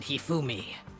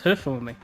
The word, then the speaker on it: Hifumi: It also soon became clear that this same Robo Justice had abducted Hifumi. Heumi? Oh, I thought it was Humi.